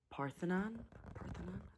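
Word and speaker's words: Parthenon: So, the first thing that we did was in um Nashville, we went and visited the Parthonon. That's how you pronounce it.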